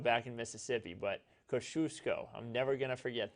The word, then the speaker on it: Kosciuszko: Again, that they say it Kosciuszko back in Mississippi, but Kosciuszko, I'm never going to forget that.